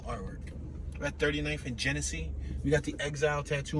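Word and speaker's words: Genessee: Genesee? G-E-N-E-S-S-E-E. Genesee Street. Like Hennessy, but Genesee.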